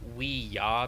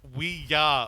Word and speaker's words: Ouija: and Ouija board no it is Ouija we just got it and it's actually it's actually we yah because it's yes yes but anyway I see yeah so it's the movie is pronounced we yeah origin oh I actually